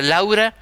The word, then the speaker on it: Lau: se llama Israel Lau Lau para que no se olvide Usted ese apellido como si fuera Laura sin la última sílaba Lau Y quién era era